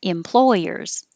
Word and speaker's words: employers: It has to be employers, employers.